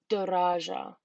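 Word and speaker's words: دراجة: just a rant, but our next one is daraja, which means bicycle. So da-ra-ja. And as you can hear, the tamabota makes like an ah sound at the end of the word, just like a lot of other languages that indicate feminine.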